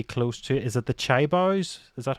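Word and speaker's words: chaebol: Is it the Chaibaos? Is that how you pronounce it? The chai balls, yes, yes.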